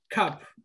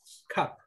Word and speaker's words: cup: Y el cup. Recuerden que cuando hay una U y es cortita así, se pronuncia como A. Cup.